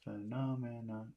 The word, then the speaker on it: phenomenon: How many syllables? Phenomenon. That's four syllables. Phenomenon. Okay, yeah, phenomenon. Four, yeah.